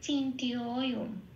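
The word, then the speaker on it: অচিন্ত্যোঽয়ম্: বেশি বেরিয়ে আসে টিয়, সংস্কৃতের উচ্চারণটা কিন্তু ঠিক সেটাই হবে টিয়। হ্যাঁ, তাহলে কি হবে? চিন্তীয়। আবার অবগ্রহ আছে, তাহলে আগের অক্ষরটায় ওকার আছে, এই ওকারটাকে একমাত্রা বাড়িয়ে দিলাম, সেই জন্য অবগ্রহের উপরে লিখলাম ও, চিন্তীয় ওম।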